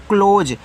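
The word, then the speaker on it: close: जी ओ sorry यार सी एल ओ एस ई इसको पढ़ते हैं क्लोज सी के बाद एल होता है तो सी को आपको का पढ़ना है लेकिन सटे हैं तो आधा का एल से आपका ल से ओ की मात्रा एस के बाद जी रहता है एस के बाद इ रहता है तो आप एस को यहां पे जा के रूप में पढ़ेंगे।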